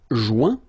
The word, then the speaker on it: joint: Joindre, joint. Rejoindre, rejoint. Okay, same thing. Final T not pronounced. Joint. So when you get this O-I-N combination of letters, you get the sound ouin.